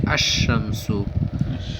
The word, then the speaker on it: الشمس: مدغم ہو جاتا ہے، یعنی تلفظ کے وقت لام کی بجائے حرف شمسی کا تلفظ ہوتا ہے.